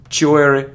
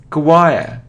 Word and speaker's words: choir: remember it isn't sure it isn't cure or chore no it's choir Quaqua choir choir it isn't coab or